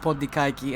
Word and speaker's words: Pontikaki: I kind of like at this point, even though in Greek it's pronounced Pondikaiki, and that this...